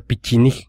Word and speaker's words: Pecheneg: tristemente que no se no se pronuncia pachec se pronuncia pichin según los rusos Entonces tenemos que regresa